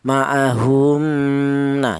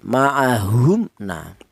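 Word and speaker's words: مَعَهُمْ نَ: Tidak boleh mim mati ini dibaca samar atau ikhfa. Jadi artinya ikhfa itu samar tidak boleh maahumna. Jangan yang betul dibaca jelas atau izhar maahumna.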